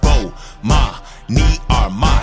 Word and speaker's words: Bomani Armah: announcements imma say my name so you can pronounce it oh ma me are my shout out to early visors I see who